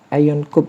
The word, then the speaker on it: ionCube: Bacanya itu IonCube ya.